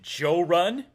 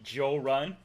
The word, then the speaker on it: Jorrly: When, not if, he finds my channel, he'll pronounce it Jorrun. Because I've had some friends from different parts of the South call me Jorrun, which is cool. But I like how you said it. That's very cool.